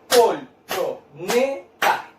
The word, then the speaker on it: colchoneta: Ahora, la palabra colchoneta. Separamos. Use las palmas. Colchoneta. ¿Dónde cargo la voz? En la sílaba ne. Sería penúltima. Vamos a abreviar con una P y una U.